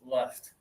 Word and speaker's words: left: But your teeth are mostly closed. Left.